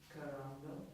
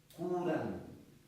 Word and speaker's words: curando: Carando. Hmm? Carando. Carando. What is that? Taking. Curando. Oh, C-U, right? Oh, right.